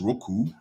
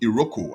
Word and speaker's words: Roku: where you can access Roku Roku not iroku I see people make that mistake they say iroko no it's not iroko it's Roku Roku TV now you realize